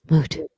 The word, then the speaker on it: moot: been uh facially moot moot because those the merits of those God damn it rhymes with toot and the boot because we're already litigating